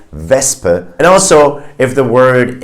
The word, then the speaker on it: Wespe: In words like Wespe, you see the SP, but the S is in the first syllable and the P is in the second syllable. So you have a S sound, not a sh sound. You say Wespe.